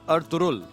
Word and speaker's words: Ertuğrul: अभी पता चला कि जो अर् तुरुल हमें बोल हम बोलते हैं इस की प्रोनंसिएशन है अर् तुरुल जो जी है वो इसमें साइलेंट है इस सीरियल को आपने